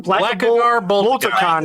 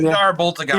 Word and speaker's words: Blackagar Boltagon: Blackagar Boltagon. Blackagar Boltagon.